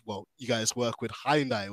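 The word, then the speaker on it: Hyundai: you guys work with hindai or hindai as the pronunciation goes so we'll get into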